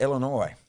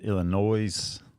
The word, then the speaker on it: Illinois: Is it Illinois or is it Illinois? Don't remember what we decided. The S is silent.